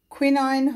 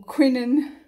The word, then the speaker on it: quinine: Okay, so quinine or quinine, however you want to pronounce it.